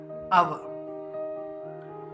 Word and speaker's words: hour: For example, अव. This is an consonant, but its pronunciation is like a. That's why we used an hour.